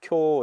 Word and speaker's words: 今日: 오늘음 예 금일 오늘 쿄 이럽니다 쿄 예 장모음 이죠 쿄 예 그거를 갖다가 우라고 하면 안 되죠 예 그 요음 예 요음 뒤에 오는 우는음 장먼 표시입니다 예 그래서 쿄 예